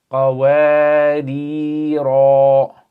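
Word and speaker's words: قواريرا: So this one, when you stop, you're going to say qawarira. And then the second one, you don't pronounce it with the alif.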